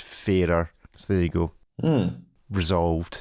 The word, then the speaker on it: Farer: me it is pronounced fairer so there you go resolved like the fairer sex like is that what